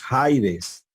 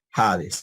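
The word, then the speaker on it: ᾍδης: como ya les dije esa y otra no se pronuncia nosotros no decimos jaides verdad seguimos haciendo jades verdad van van al bueno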